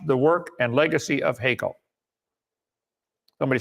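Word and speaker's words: Haeckel: attempts to whitewash the work and Legacy of hekel somebody said it's pronounced Heckle I don't care okay he's dead right I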